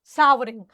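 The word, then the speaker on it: savouring: सैवरिंग, सावरिंग, ठीक है, और it would be pronounced सावरिंग, ठीक है, सावरिंग।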